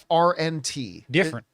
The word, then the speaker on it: DFRNT: There's a gym in Australia it's called Different, but it's spelled like DFRNT. Different.